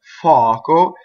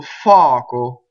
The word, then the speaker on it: fuoco: So words that are possessive pronouns usually have a strong first vowel and a weak second vowel. So mio, suo, sua, mia, fuoco. So this is fire, fuoco. This is the old form of it. It's also in more modern Italian, fuoco, and it follows the uo where the u opens, right? So fuoco.